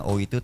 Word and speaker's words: Oi: Seharusnya pengucapan lafalnya beda. Ini antara O i sama oi. Oi. Sedangkan kami bersepakat kemarin itu dalam hal ini penggagasnya Iwan Palo sendiri oi.